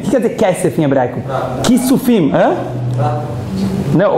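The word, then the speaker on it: כסף: Kesef.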